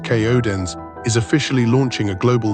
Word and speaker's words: KODAENCE: KODC, pronounced Kodens, is officially launching a global movement built on a singular powerful concept, the coded rhythm.